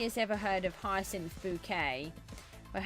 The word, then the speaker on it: Bucket: Um, so if anybody has ever heard of Hyin Bouquet, but her name is actually spelled bucket, but she pronounced it as bouquet.